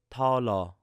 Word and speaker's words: 달러: So we have this word dollar in Korean is 달러. So it's a very light T sound at the beginning.